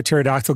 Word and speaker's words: pterodactyl: Why can't you hear pterodactyl going to the bathroom? Because the P is That's a classic, dude. Because the P is silent.